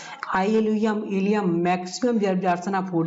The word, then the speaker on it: ilium: ILIUM है तो ये पेल्विक बोन्स होती है ये, ठीक है, इसको आइलियम बोलते हैं।